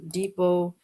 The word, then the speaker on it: depot: Depot, you don't say the T at the end.